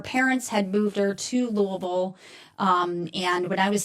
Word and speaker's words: Louisville: It is called the Judgmental Podcast with attorney Christine Miller and attorney Hugh Burrow from Louisville or I should Louisville is the proper way to pronounce it.